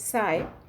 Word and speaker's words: psi: It is pronounced as psi, and it is from the Greek alphabet, so that this particular psi symbol is internationally accepted as a symbol for psychology.